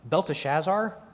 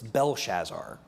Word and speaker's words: Belshazzar: subtly disfigured throughout um beltachazar is not the proper spelling or pronunciation it's belshazzar shadrach is corrupted by